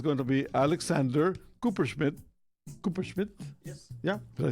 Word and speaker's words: Kuperschmidt: Kuperschmidt?